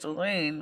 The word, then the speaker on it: Dalene: The Norwegian pronunciation is Dalene, which is basically means